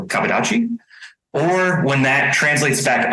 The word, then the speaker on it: kabudachi: style or kaboni uh kabu dachi I'm just GNA make sure I say it right uh in J in Japanese dialect it would be faster than that because there's no pauses so kadachi or when that translates